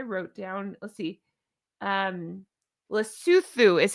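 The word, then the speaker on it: Lesotho: It's spelled um lasso, l e s o t h o, but I I made notes because I didn't want to mispronounce. So it's luthu is how they're pronouncing it.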